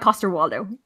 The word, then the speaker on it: Coster-Waldau: and the finally the pronunciation of the guy from Game of Thrones Jamie answer is Nikolaj coster-waldau like so it's easier than one I don't know I thought it